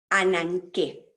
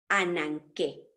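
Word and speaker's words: ἀνάγκη: que nos transmite nos transmiten como 298 así annan qué en griego cuando la letra gamma aparece no se pronuncia como g o como ghana sino como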